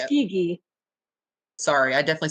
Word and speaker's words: Tuskegee: Tuskegee. Sorry, I definitely said Tuckasegee.